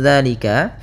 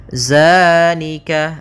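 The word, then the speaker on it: ذٰلِكَ: Hati-hati dalam pelafalannya. Hati-hati dalam pelafalan zal, jangan dibaca dengan zai, jangan zalika. Bukan, dia bukan huruf za. Bukan dengan bacaan zai.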